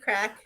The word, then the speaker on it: craic: The CRAIC crack is how you say fun.